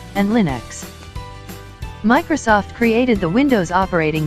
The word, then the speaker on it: Linux: 2012 and lion 2011 Linux pronounced Lin UX is a family of